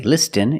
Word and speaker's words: listen: Example, listen and fasten. You see s t e n. With this spelling pattern, you can see the t is silent. Listen. We don't say listen.